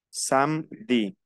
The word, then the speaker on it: samedi: Samedi, no pronuncio la E. Samedi.